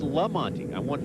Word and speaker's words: Lamonte: And you know, a lot of people tend to call him Monty, but he told us, he said, no, my name is Lamonte. I got a special name, and I want it pronounced that way.